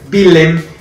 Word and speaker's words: Willem: El Roda tiene 34 puntos, el Willem tiene 36, que es el Willem, así se pronuncia en holandés.